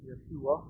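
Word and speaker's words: יהושע: Joshua, in Hebrew, would be pronounced more like Yeshua, or something of that sort.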